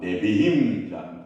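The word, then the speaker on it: נביאים: 이러 여러분 제가 곤란해집니다 아 내비 힘이라는 발음이에요 내비이라는 발음인데 어이 선지서 아고 하는데이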